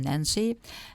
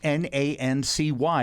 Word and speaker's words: Nancy: idea to come here to represent my town nancy and as an artist of course but also